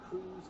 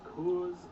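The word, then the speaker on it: Curze: Now, I'm aware that it is pronounced in many different ways. Kurz, Cruz, Kurz. It's an interesting last name. I'm going to be saying Kurz for the majority of this video because that is the way I prefer to pronounce it.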